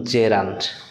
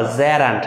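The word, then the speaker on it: gerund: এইটা জানার দরকার নেই, জাস্ট এটা মনে রাখবা যে নন ফাইনিট ভার্ব তিন প্রকার, ইনফিনিটিভ, পার্টিসিপল এবং জেরান্ট। উচ্চারণ করবা জেরান্ট, নট জিরান্ট, হ্যাঁ, জেরান্ট, ওকে।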